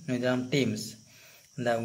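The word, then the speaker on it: Thames: কীভাবে নদীটা বয়ে যাচ্ছে, নদীটার নাম কি, নদীটার নাম টেমস, দ্য উচ্চারণটা কিন্তু টিএইচ দিয়ে বানানো হলেও উচ্চারণটা হবে টেমস।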